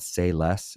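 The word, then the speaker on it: Sei Less: She found this Asian fusion place called Say Less, and it's spelled SEI, and it was almost kind of difficult to find because there's some construction going around.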